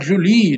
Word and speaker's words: Joule: Às vezes você ouve pronunciar Joule devido ao francês, né? Mas Joule em português se consagrou, não tem problema nenhum.